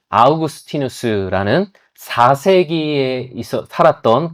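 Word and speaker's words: Augustinus: 여러분 아마 그 어거스틴이라는 사람 라틴어 발음으로는 아우구스티누스라는 4세기에 있어 살았던 그 교부가 어렸을 때 남의 집 과일을 훔쳐 먹었다는 이야기를 한번쯤 들어보신 적이 있으실 겁니다.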